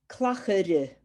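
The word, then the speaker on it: clachair: Clachere. Clacheria. Clachere. See when you have the AIR and you have an E on the end, always try and pronounce the E.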